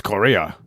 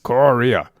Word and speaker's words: chorea: __ ] sid and ham's korea is what it's really called korea and it's spelled with like a c and an h and an o and r what happened to